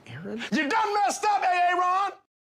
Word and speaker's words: Aaron: Why didn't you say it the first time I said Ron? Because it's pronounced Aaron.